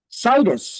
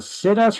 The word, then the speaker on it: situs: Thank Situs is people's preference for location. I mispronounce this often as situs.